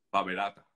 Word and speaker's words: PABerater: faberá tener en español en alemán la r al final se pronuncia como ear Entonces sería Jorge primero